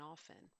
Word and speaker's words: often: when it wasn't so I choose not to pronounce the T in often I usually go with